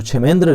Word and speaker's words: क्षेमेंद्र: English में इसका spelling KSHE इस तरह से स्टार्ट होता है। तो इसको हम लोग पढ़ेंगे क्षेमेंद्र।